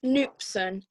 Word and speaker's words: knupsom: simpleton or a fool it's actually pronounced newpsan an expert only today